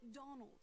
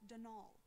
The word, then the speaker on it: Donal: caretaker denial delaney not donald mind you there's no d at the end so it's pronounced denal that's the way you're